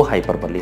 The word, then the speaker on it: hyperbole: Next is हाइपरबोल भी कहते हैं कई बार लोग इसको, हाइपरबली इसका सही प्रोनाउंसिएशन है।